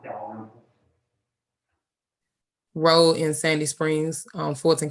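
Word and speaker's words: Dalrymple: is Roswell Road at, I'm gonna spell it. It's D-A, I believe this is a L-R-Y-M-P-L-E Pronounced Delaware.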